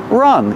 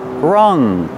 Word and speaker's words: rung: Rong of the ladder Rong use the short uh like cup and up Rong one Rong 1 2